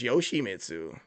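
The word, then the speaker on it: Yoshimitsu: It's Yoshi Mitsu. I call him Yoshi for short, but I say Yoshi Mitsu when it's saying the whole name.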